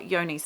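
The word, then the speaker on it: Johne's: was written down and it is not spelt with a Y like I sort of suspected it would have been. It is spelt with a J, and it must be like a European name. So it's Johnes. So I thought it said John's disease, and it wasn't until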